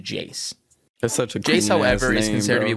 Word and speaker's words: Iayze: then later we have the present-day ias or properly pronounced jace however is considered to